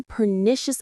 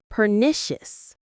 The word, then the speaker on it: pernicious: Pernicious. The stress is on the second syllable.